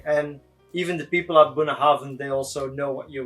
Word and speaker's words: Bunnahabhain: So it's Bunnahabhain. It's Bunnahabhain.